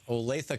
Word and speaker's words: Olathe: Drew in Olathe, Kansas.